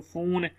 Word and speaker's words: phone: PH जो है ना वो फा की साउंड, F वाली साउंड देता है, फा, ठीक है। जहाँ पे PH मिल के आएगा तो वो जिस तरह फोन लिखा हुआ है PHONE।